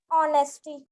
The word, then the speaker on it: honesty: ऑनेस्टी नहीं होता बच्चे, एच साइलेंट है उसमें. ऑनेस्टी. रिपीट करो. Honesty. ऑनेस्टी, एच साइलेंट होता है.